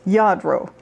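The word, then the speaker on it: Lladró: i would achieve this this is alladro otherwise pronounced yadro it's spelled l-l-a-d-r-o and i usually find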